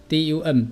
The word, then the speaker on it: dumb: 好，第七个 dumb，注意这个 b 不发音 dumb，只有发 dum dumb，形容词是哑的沉默的愚笨的。